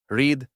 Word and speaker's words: read: е Feel Felt Felt поєднання літер іa в першій формі яке вимовляється як і у другій і третій колонці пишеться так само але звучить е read якщо перша форма закінчується